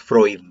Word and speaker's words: Freud: y pues mucha gente como se escribe es free but pero como se pronuncia en el lenguaje austriaco es fruit donde al final no freud como mucha gente le dice es freud sigmund freud y está